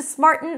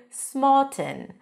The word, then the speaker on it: smarten: or to clean up now this pronunciation is a little tricky there are a few ways to say it first of all you can say it with popping the tea like you would in British English very appropriate smarten or smarten with a small light T smarten smarten yourselves up perfectly fine you can pronounce it